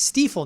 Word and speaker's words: Stiefel: And it wasn't until someone else had to tell me I was saying it wrong that you go, yeah, it's Stiefel, not Stifle.